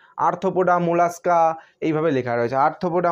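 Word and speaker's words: Arthropoda: আর্থ্রোপোডা, ARTHRO, আর্থ্রো, PODA, পোডা।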